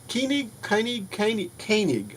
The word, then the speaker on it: Koenig: I've got Renegades, the Requiem, which is a full free movie starring Walter Koenig, Koenig, I believe is the way it's pronounced, Nichelle Nichols, and more.